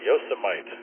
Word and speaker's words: Yosemite: Kent told me how to say this it's Yosemite Yosemite Park Yosemite coming in number one uh